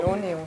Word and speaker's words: Paloneo: Yvonne Reichelt, Paloneo, richtig ausgesprochen? Paloneo. Paloneo. Ja.